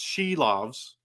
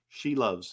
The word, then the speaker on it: Silovs: at pronouncing names, but they call them SILOVS, and it's SILOVS. In fact, the Latvian people were coming in to my streams and telling me that it was SILOVS. No, not she loves.